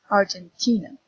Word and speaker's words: Argentina: stress so for example here in Argentina it's in the apostrophes before the team you know that T is the stressed syllable Argentina here the thing he see the the apostrophe is before T so again Argentinian Jimmy had